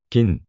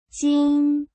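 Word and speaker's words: 金: 바꿨을 가능성이 많다고 보입니다 지금의 중국어의 발음은 진으로 발음되고 고 일본어에서 발음은 긴 발음됩니다 중국어 한국어 일본어 차례대로 들어보시겠습니다 징 김 김 징 김 김 미음 받침이 있는 한국어는 정확한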